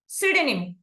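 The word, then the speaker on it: pseudonym: మనము సైలెంట్ చేసాము and coming to option సిడనిమ్ సుడిని ఇక్కడ కూడా పి అనేది సైలెంట్ అయింది కమింగ్ టు ద ఆప్షన్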